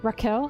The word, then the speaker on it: Raquel: Raquel.